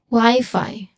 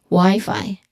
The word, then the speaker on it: Wi-Fi: WiFi. Wifi. The Wi-Fi signal is strong here. The Wi-Fi signal is strong here. There should be an equal stress on both syllables.